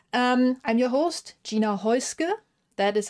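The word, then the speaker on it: Häußge: I'm your host Gina hoisker that is how you pronounce my last name no weird bee in there it's an S trust me and uh yeah welcome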